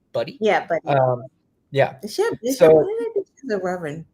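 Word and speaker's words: Budde: Is that how you pronounce her last name? Buddy? Yeah, Buddy.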